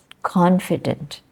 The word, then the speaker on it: confident: So we have confident, confident. Sometimes people say confident or confident instead of confident. It is a question of knowing where to make the stress, in that word.